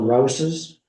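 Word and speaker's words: Rowes: his baptism children's baptism the Roses r o WS which they pronounced Rose as I understand it none of these preachers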